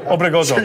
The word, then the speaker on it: Obregozo: Obregozo. Sure. Yeah. Obregozo. Good. I like how you rolled the R.